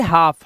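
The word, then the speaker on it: half: इसी तरह से हाफ। हाफ माने आधा। हाफ है ना? तो इसमें हाल तो नहीं बोलते।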